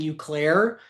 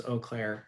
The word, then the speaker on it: Eau Claire: So, I'm in front of a group of like 100 people, and I keep saying you Claire, and um people came up to me afterwards and and told me that it was Eau Claire, and so I appreciate that.